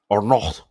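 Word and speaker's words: Arnault: Now, this Bernard Arnalt, Bernardin Arnold, Arno, because you don't pronounce the T, right?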